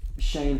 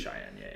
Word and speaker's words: Cheyenne: have Ryan Howard and Shane Parker. What's her name? Shane Parker? No. Wait. Shane Parker. Maybe I'm pronouncing her first name incorrectly. Cheyenne Parker. Cheyenne Parker. It's definitely Cheyenne.